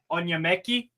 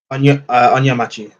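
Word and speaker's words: Onyemaechi: How do you pronounce the center back Bruno Onyemeki? Onyemachi. Onyemachi. Okay.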